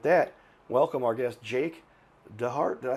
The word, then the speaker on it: DeHart: And with that, welcome our guest, Jake DeHart.